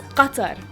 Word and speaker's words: Qatar: not Iraq it's Iraq or Iraq in Arabic Qatar it's Qatar in order to make sure you're able to